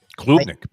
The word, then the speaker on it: Klubnik: They pronounce it Klubnik.